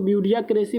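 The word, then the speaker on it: bureaucracy: a government by the official ठीक है इसको ब्यूरिया क्रेसी बोलते हैं नौकरशाही बोलते हैं राइट अब आप बताइए ब्यूरी क्रेसी का स्पेलिंग तो पूछा जाता है तो बी यू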